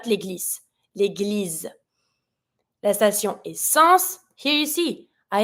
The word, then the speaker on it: station: La station, careful with the pronunciation here, I-O-N, yon. And every time you have T-I, plus after the I, another vowel, here is the O, the T is going to be pronounced like a S.